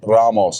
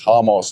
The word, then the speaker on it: Ramos: Is it Ramos or Hamos? I'm going to say Ramos because it's spelled with an R. Okay, I don't get that. It's not Rodriguez or it's not Ramos. It's Hamos.